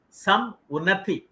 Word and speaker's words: Samunati: understood the meaning of some unnati i think rather than pronouncing as an english word it should be pronounced as two words it gives a great